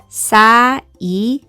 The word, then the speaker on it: cycle: 이 C는 S라고 소리가 났고요. 그리고 Y는 여기서 I라고 소리가 났습니다. 그리고 여기에서 C는 L이 뒤에 있으니까 K로 소리가 나겠죠. 그리고 L는 리을, 그리고 여기서 E는 묵음으로 소리가 나지 않습니다.